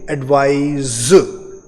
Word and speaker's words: advise: I repeat the pronunciation, एडवाइस, ADVICE, और ये CE पर एंड होने वाले जो वर्ड्स होते हैं उनको एडवाइस इस तरह से एंड करते हैं, और ADVISE को बोलेंगे एडवाइज।